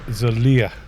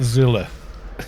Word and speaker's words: Zilia: I just saw Zilia. Yeah, this guy in Storm, for years everyone just called him Zilla, but his name is actually Zilia. Z-L-I-A. Zilia. Not Zilla. Like Godzilla. Which is, when he heard